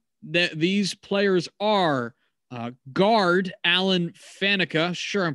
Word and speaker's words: Faneca: So let's start with Alan Faneca, or however it is you pronounce that, because Faneca is correct.